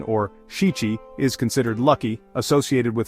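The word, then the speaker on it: 七: On the flip side, the number 7, or shichi, is considered lucky, associated with celebrations like the Shichi-Go-San festival, which honors the growth of young children.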